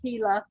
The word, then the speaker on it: Gila: gila river starts with a g but it's pronounced gila over here we have the green river we